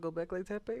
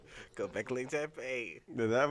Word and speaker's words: Göbekli Tepe: Y'all got anything to say about Göbekli Tepe or what?